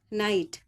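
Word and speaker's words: night: टी का स्वर आएगा जी एच जो हैय साइलेंट रहेगा इसका स्वर नहीं आएगा एन आई जी एच टी नाइट टी आई जी एच टी टाइट ठीक है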